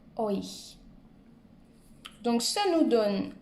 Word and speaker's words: euch: Un autre conseil pour retenir ou pour prononcer plutôt ce mot-là, qui est un peu difficile, imaginez-vous un O-I tréma, euch.